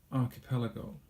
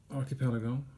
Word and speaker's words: archipelago: goes something like this archipelago this is the phonetic spelling archipelago and if you don't read that it's something like this our key pair like go archipelago archipelago right what